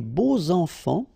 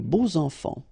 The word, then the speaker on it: beaux enfants: And here, it's quite interesting because even if you've got this X, well, phonetically, it will be like Z, so like if it would be an S, okay? Les beaux enfants, all right?